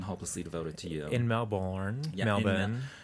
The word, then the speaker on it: Melbourne: In Melbourne.